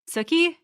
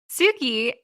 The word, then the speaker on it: Suki: Suki? How do I always get her name wrong? Yes. No, you almost call you. her... Yeah, I know. But usually when you're saying it sounds like you're saying Snooki.